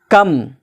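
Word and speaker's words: comb: माना होता है बम कम सी ओ एम बी कॉम जिसको कहते हैं कॉम कॉम का मतलब कंघा तो कम नहीं पढ़ेंगे पढे क्या पढ़ेंगे कम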